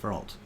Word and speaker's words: Frot: Because to my left, obviously, that's Avery, and he's playing the Artificer, whose name is Frot. One syllable. Frot.